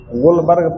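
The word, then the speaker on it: Guldberg: गोल्डबर्ग spelling देखो कैसा है। एल यहां साइलेंट है। गुलबर्ग पढ़ा जाता है।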